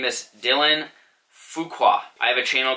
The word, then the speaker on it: Fuqua: my name is Dylan fuqua I have a channel called fishing with Fuqua sorry from pronouncing that wrong it's fu qu a I was wearing P